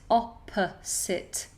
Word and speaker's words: opposite: totally your choice ok the word opposite opposite opposite make sure that it's an s and not a Zed opposite can you speaking in the